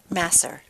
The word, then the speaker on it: Masser: Yeah, how do you pronounce it? Is it Masser? Masser.